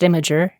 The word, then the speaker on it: Imgur: It's pronounced Imager.